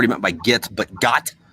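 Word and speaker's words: Gott: Yeah, it's spelled G-O-T-T, but it's pronounced got.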